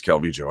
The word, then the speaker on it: Calvillo: and by the way it is Calo I know some of you were like that's not how you pronounce it yes it is the Double L can be a y in Spanish it can also be a j an English J it can also be an English sha so it depends on